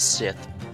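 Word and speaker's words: Sithe: dr scythe appeared and i'm assuming her name is pronounced scythe and not sith largely because that would be kind of like a reaper's scythe which would fit with the fact that she's the coroner if the victim was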